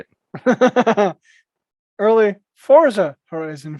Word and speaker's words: Forza: that have happened recently, Forza Horizon 5. Sorry, correct yourself. Nope. Forza Horizon 5. There is no T in it.